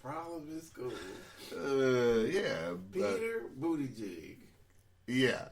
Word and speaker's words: Buttigieg: If you say it normal, you have to actually pronounce it to make sure it don't sound like jig.